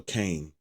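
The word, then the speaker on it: Kayn: We need a Kine. We need or Kane, if you want to pronounce his name, Kane.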